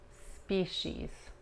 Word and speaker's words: species: Marine species. Marine species. Marine species. La C-I en esta palabra se pronuncia como la S-H.